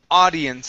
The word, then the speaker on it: audience: let's practice the word audience instead of ow audience it's only an a audience audience okay one more time you're saying ow you're adding in an O there so only a AI audience audience okay good